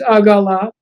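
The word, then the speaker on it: עגלה: The word for a wagon in Hebrew is agala. That means wagon. And then the word for a calf is egla. So it's very similar. It's the same letters, different pronunciation.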